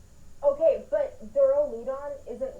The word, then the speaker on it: Duraludon: It's Duraludon. Okay, but Duraludon isn't wrong because Dura is the Latin word for hard, and that's how you pronounce it, Dura.